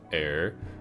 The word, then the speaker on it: Eir: I think it's spelled E-I-R. I'm pretty sure you pronounced that Air.